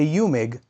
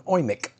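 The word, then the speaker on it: Eumig: I call it a UMIG, but I know us Americans are pronouncing it wrong. It's actually called an OIMIC, but I'll say UMIG.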